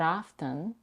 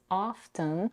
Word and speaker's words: often: Also, notice that she pronounces often with a T. There are 2 alternative pronunciations of this word. Often without a T and often with a T. Both variations are widely accepted and the choice depends